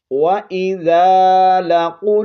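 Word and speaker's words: لقوا: وَإِذَا لَقُوا الَّذِينَ، یہاں پر لام زبر لا، قوف لام پیش قل، قوف کو اوپر پڑھیں گے اور قاف کو لام کے ساتھ ملائیں گے، قوف لام پیش قل،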